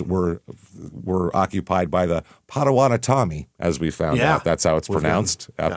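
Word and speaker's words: Potawatomi: In the 1700s, the areas were were occupied by the Padawanatami, as we found out. That's how it's pronounced after after the bottom of the M.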